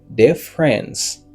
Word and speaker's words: difference: OK, en anglais mot ça il prononcé comme difference. Difference. Tu as déjà me dire, c'est pas dit, c'est dé. Difference.